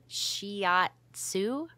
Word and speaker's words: shiatsu: wait wa wait it's it's kind of hard to pronounce it's shiatsu shiatsu okay okay I